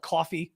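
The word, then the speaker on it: Ko-fi: site that's Coffee, except it's spelled kind of funny, but I'm not going to spell it because the TikTok algorithm gets very upset when you mention outside things, but it's pronounced Coffee.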